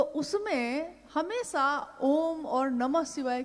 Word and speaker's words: ओम: ध्वनि की आवाज थी अ उ म अगर एक साथ सुना जाए उसको तो उसकी आवाज गूंजती हुई ऐसी है जैसे हम बोलते हैं या उच्चारण करते हैं तो हम कहते हैं ओम है वो अ उ